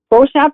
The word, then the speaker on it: Beauchamp: Is it Beauchamp? Beauchamp is fine.